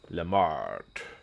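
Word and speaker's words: Lemartes: Lemart. Hello, Lemart. Is it Lemarte? Lemarts or Lemart? the France. The French would just kind of not even pronounce the S at all. They would just say Le Mar.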